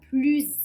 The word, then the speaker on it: plus: Et la dernière phrase, Léa est la plus âgée des enfants, on prononce Z car il y a une liaison entre plus et qui commence par une voyelle a.